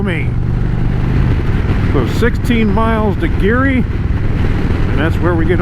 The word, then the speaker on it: Geary: I think it's pronounced, it's spelled G-E-A-R-Y. I assume it's pronounced Geary instead of Gary, like Gary, Indiana, or Gary Holloway.